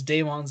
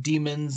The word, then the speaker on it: Daemons: The Daemons, and yes, it is Daemons, not demons, not how else do people say it?